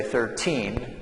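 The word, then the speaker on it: thirteen: So on this number we would say 13, and then the stress here is on the first syllable.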